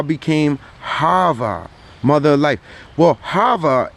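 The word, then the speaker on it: חַוָּה: harvard mother life well hava is literally the hebrew way you say eve it is literally means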